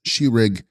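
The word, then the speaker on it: ཤེས་རིག: Text, Shesrig, pronounced Shirig, is the intellect, the knowing or cognizing faculty.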